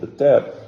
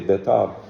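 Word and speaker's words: Beitar: And that's when the city of Beter, all the Chachamim were in a city called Beter. Sometimes they say Betar. The older pronunciation is Beter.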